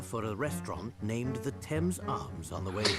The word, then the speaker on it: Thames: talking about was old Father Thames. You pronounce it Thames, dear.